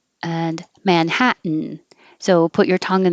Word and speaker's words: Manhattan: touch your lip wax mountain is similar to manhattan and that your t is followed by an in and they're both in the unstressed syllable so the t can disappear manhatt but you can't